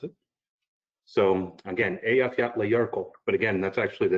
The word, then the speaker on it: Eyjafjallajökull: So it's Eyjafjallajökull. That again is E15 for all you military folks. They didn't even want to pronounce it. So again, Eyjafjallajökull, but again, that's actually the name of the